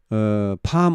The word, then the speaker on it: palm: 자, 이게 지금 팜 오일, 팜유 있죠. 팜유. 팜유를 만들어내는 그런 나무를 오일팜이라 합니다. 오일을 만들어내는 팜이라 해서 팜유. 예, 팜나무, 팜. 뭐 종려나무라고 합니까? 팜. L이 발음이 안 됩니다.